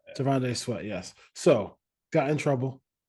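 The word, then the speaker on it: T'Vondre Sweat: Is it Trevande Sweat? Trevande Sweat? How you say it? Is that how you say it? Tavondre Sweat. Yeah. Tavondre Sweat.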